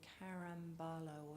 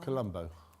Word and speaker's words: Colombo: a mention of, I think, of an Italian Carambalo or something like that. I've said it wrong. Colombo.